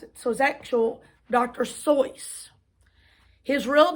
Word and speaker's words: Seuss: it so it says seuss is supposed to rhyme with voice so it must be source not goose like seuss the doctor never minded that people mispronounced it so his actual dr soyuz his real name theodore